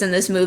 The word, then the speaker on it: Nalu: could have helped like find a prince Naru but instead Nalu Nalu I keep saying his name wrong you could have went in to save Prince Nalu but you didn't you're